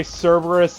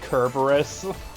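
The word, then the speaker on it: Cerberus: I believe that's also why Cberus is technically actually pronounced Kerberus, but everyone gets it wrong.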